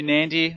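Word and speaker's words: Nadi: so you'll see in the background there that's nandi International Airport now it is spell na di but it's pronounced Nandi so make sure you're aware of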